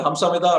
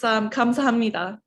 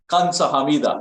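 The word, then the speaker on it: 감사합니다: Is that Hamsamida or Kamsamida? It's Kamsahamnida. Kamsahamnida, right.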